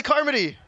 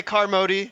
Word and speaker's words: Carmody: so that she can judge the pronunciation of her last name and I will not get in trouble I will not say car Modi this time last minute this why